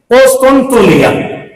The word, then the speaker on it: قسطنطنیہ: دیتے، فلاں تھا قسطنطنیہ، قسطنطنیہ، اس کا مخرج بھی یہی ہے، تلفظ بھی یہی ہے، قسطنطنیہ، تونیہ نہیں، تونیہ، تا کے اوپر پیش نہیں ہوا، تونیہ، قسطنطنیہ۔ اب اس کی طرف